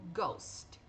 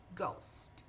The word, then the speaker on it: ghost: Em início de sílabas, ele vai ter som de G, som de G. É como se o H fosse mudo. Por exemplo, ghost, ghost.